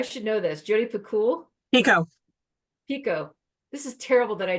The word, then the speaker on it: Picoult: here, and you'll feel as like, what does Jodi Picoult say here? Is that how you say her name? I should know this. Jodi Picoult? Pico.